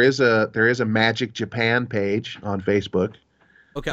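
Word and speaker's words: Majyk: that'll be fun um what's your band's name magic and it's spelled m-a-j-y-k um just like magic johnson not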